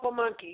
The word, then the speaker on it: Pamunkey: They were called Pamunkey, yes. Oh, okay. How do you spell it? Say it again, please. Pamunkey.